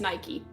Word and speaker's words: Nike: yeah are both correct Nike yeah n n yeah Nike is a like more modern one but traditionally it is Nike no I would I